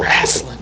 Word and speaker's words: wrestling: Wrestling, wouldn't that be an R? No. Wrestling. No. The W is silent.